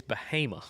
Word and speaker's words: Bahama: once, the name So, it's spelled It's spelled Bahama, but you got to put the little redneck twang on it. It's Bahama.